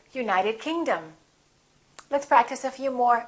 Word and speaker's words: United Kingdom: If the place has two words, we stress the second word. For example, South America, we say South America. United Kingdom, we say United Kingdom.